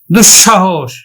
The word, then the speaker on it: দুঃসাহস: উদাহরণ দেখো দুঃসাহস দুাহস দুঃসাহস আমরা এই যে বিসর্গ পরে যে দন্তস আছে সেই দন্তসটা দুইবার উচ্চারণ করব কিন্তু আমরা দন্তস উচ্চারণ